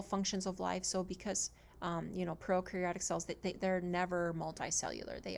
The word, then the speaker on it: prokaryotic: So prokaryotic cells, pro rhymes with no, but pro actually means like before the nucleus.